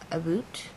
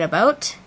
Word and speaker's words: about: We say it about. We say it about and out and about.